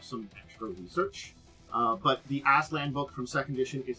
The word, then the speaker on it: Aztlan: We're diving once more into the 6th world, into Shadowrun, and today we're heading to Aztlan. Aztlan? I never say it like Aztlan.